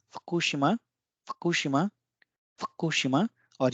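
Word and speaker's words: 福島: तो पिछला था फकुशिमा, फकुशिमा, फकुशिमा।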